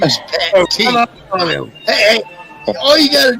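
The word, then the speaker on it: Pat Tee: My name is Pat T. Hey, all you got to do is use proper pronunciation. P-A-T is Pat. T-E-E is the T. Pat T. Not Pat Tay.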